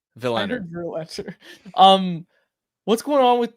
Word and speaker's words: Willander: Did you say Verlander? No, not Verlander. Willander.